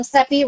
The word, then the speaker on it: Cepee: people call me sepi i tell them sepi rhymes with pepe but it is a